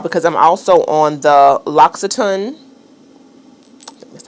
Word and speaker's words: L'Occitane: I have all beauty products to show you all because I'm also on the L'Occitane, that's how you say it, PR list, and they send me these two products religiously.